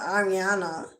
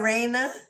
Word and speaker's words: Arena: Ariana, is that No, it's not Ariana. Is that Arena? I think I've been saying it wrong. Arena. Cuz it's not spelled Ariana. It's Arena. If that's beautiful, so I'm sorry if I mispronounced it. Ariana is so common. I I put the I before the A, but it looks like Arena.